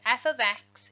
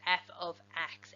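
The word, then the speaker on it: f(x): use function notation is this here this is pronounced f of X is equal to 2x plus 1 f is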